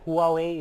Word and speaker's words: Huawei: Yeah, and we have the, is it Huawei?